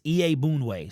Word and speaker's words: Iyiegbuniwe: put them together is Iyiegbuniwe. So it looks way more complicated than it is once you hear him say it.